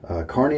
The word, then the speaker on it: Kearney: Kearney, Nebraska. That's how you pronounce that.